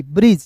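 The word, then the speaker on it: bridge: ब्री, डी जी ई, ब्रिज। जैसे मैंने आपको अभी बताया डी जी एक साथ आएगा तो उसका उच्चारण दोस्तों टी का उच्चारण नहीं करेंगे, जी का उच्चारण जो हो जाता है।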